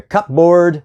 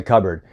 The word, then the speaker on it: cupboard: You don't take a cup and put it in the cupboard, you put it in the cupboard.